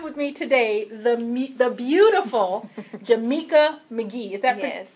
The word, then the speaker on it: Jameca McGhee: I have with me today the beautiful Jameca McGhee. Is that pronounced correctly?